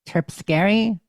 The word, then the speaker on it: Terpsichore: Calliope, Cleo, Polyphemia, Euterpe, Terpsichore, Erato, Melpene, Thalia, Terpsichore and is Urania. a fucking killer name. It is Terpsichore? pretty. Terpsichore. That Yep, is awesome. looking up the pronunciation guide, it's more like Terpscary, but it's spelled Terpsichore.